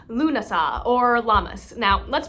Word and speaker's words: Lughnasadh: So thank you again, Lily May, and your amazing family for helping me pronounce these words. Again, that is Lunasah, and the other name for this holiday is Lammas.